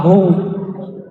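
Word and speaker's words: هو: Ya, hu, bacanya hu, jangan huwa, kecuali disambung.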